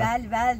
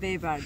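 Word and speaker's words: Bellver: Belbel diye yazılıyor. Tabii ki öyle okumayacağız. Beyber diye okunuyor.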